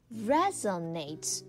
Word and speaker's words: resonate: Another one we would usually not say the I'm in is not sure if this resonates, but... Not sure if this resonates, but resonate 这个词看起来跟 reason 有一点点像，对吧？但是呢，它的开头啊其实是 reson 而不是 reason，所以它的发音是不同的，大家要注意。元音那个单词是 reason，对吧？但是这个词呢读作 resonate 是产生共鸣的意思，它是一个动词。那连起来大家看这个短语叫做 Not sure if this resonates, but 就是说不确定我的这个意见是不是能够产生共鸣，也就是说啊，不确定你能不能够同意我的这个观点，我的这个说法，但是呢，我后面就加上我的观点是什么什么什么什么了。